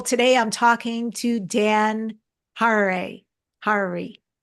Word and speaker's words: Harary: I'm talking to Dan har Hari it rhymes with Ferrari and he's a longtime